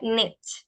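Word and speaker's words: knit: imagen mental de que la k no se pronuncia se pronuncia net sí net la k es muda net Entonces cómo cómo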